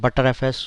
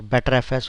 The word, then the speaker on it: btrfs: this session is about btrfs butterfs or better fs or btrfs whatever way you want to pronounce it i'm going to introduce